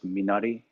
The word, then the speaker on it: minari: no it's not on netflix yet um it's it's spelled okay m i n a r i um it's minari is a korean word um